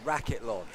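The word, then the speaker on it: Racketlon: Remind me what is the name of the uh event that she plays which combines all the different I think it's pronounced racket lawn.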